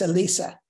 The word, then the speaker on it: Elisa: Elisa is Danish, and so you pronounce the E as an A almost. So it's Elisa.